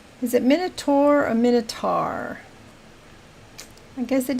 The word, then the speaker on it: Minotaur: I mean, some words, the AU is an ah, so it'd be Minotaur. But I've also heard people pronounce it Tor, like T-O-U-R, Tour, Minotaur. So I guess there's three ways: Minotaur, Minotaur, Minotaur, Minotaur, whatever. You could say it three different ways.